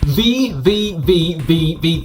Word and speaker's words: VVVVVV: My name's from Games Room, and today we're taking a look at Vvvvvv. I think that's correct, or that's how you say it anyway. Yeah, that's right.